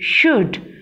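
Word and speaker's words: should: में चेंज कर दिया और एल को साइलेंट, क्योंकि एल खामोश हो गया. एल इनके दरमियान खुश नहीं रहता, इसलिए एल बोलता कुछ नहीं है, बिल्कुल साइलेंट होकर खड़ा हो जाता है, खामोश होकर. ओके, श उ ड शुड.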